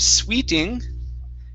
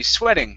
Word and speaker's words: sweating: the word okay so this word here is a short e sound so instead of sweeting okay it's a short e sweating try that sweating good